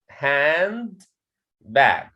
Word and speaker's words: handbag: care of it okay handbag handbag if i want to say this word separately okay you will say it hand bag okay so you can